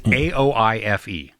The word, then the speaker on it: Aoife: It's AOIFE. Okay. AOIFE. How would you pronounce that?